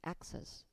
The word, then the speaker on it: access: 그래서 assass 반면에 어 접근 혹은 접근 혹은 어디로의 접속음을 뜻하는이 단어는 어 강색 앞에 있기 때문에 정확히 access 이렇게 발음이 됩니다.